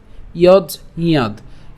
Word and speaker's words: যজ্ঞাৎ: এরপর একই রকমভাবে ইয়জিয়াদ কেন, এই যে এখানে আমরা যদি যুক্ত বর্ণটিকে ভাঙি তাহলে আমরা কি পাই, বর্গীয়াজ হসন্ত যোগ হচ্ছে ইয়, এবং এখানে আমরা উচ্চারণটা কেমন হচ্ছে, ইয়জ এবং ইয়া। কেন ইয়া, কারণ আকার আছে, তাহলে ইয়াদ। ঠিক আছে, ইয়জ ইয়াদ।